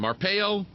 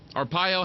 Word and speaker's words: Arpaio: Arpeo. Arpaio. How do I pronounce that?